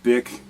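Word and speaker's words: B·I·C: speakers and the ones I'm talking about our bi C not BIC okay I found that the creator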